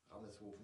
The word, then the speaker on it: Rameshoven: Lang genug philosophiert, also es war eine Hommage, ja, Hommage an Nina Rammershofen, okay, das wird hier ausgesprochen, Rammershofen, ja, Nina Rammershofen, Hamburg, Stade, Filmproduktion, Nordfriesland.